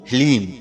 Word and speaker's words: ह्लीम: जी हाँ मित्रों, मंत्र को एक बार आप फिर से ध्यान से सुनिए, ओम ह्लीम। इसमें हा, ला और बड़ी ई की मात्रा और अंक की बिंदी, ह्लीम।